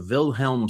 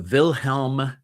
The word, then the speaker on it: Wilhelm: It's called the Wilhelm scream. Uh it's a German name, so it's spelled with a a W, but it's pronounced with as if it were a V.